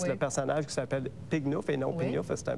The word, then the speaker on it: pignouf: Pignouf, c'est un mot français qui est dans le dictionnaire, mais qui se prononce Pignouf.